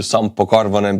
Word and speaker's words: Sampo Karvonen: I have to disappoint you, Sampo Karvonen, because your name is Finnish, which is pronounced almost the same way as Estonian.